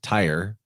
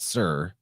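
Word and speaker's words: Tyre: I know that it looks like it says tire but you actually pronounce that sir and knowing that is very helpful because you'll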